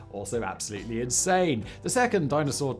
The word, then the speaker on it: Dyna-Soar: It's spelled Dynasoar, but it is Dyna-Soar.